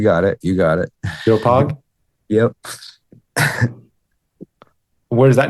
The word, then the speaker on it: Doepog: pronounced? Yeah, you got it. You got it. Dopog?